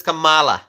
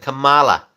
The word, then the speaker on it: Kamala: writing the pronunciation of Kamala it it is Kamala that's how you pronounce it Kamala I know she does it differently but I say Kamala ala Camala Harris I I think I should